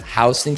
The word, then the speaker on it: Houston: Now we are located inside of the county called Houston County, not Houston, it's pronounced Houston County.